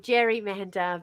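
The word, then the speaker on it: gerrymander: over time it became Jerry Mander because we pronounce it Jerry not Gary but his name was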